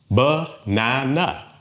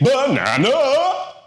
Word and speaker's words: banana: It has three beats. Banana. And the stress usually falls on that middle one. Banana. We don't say banana.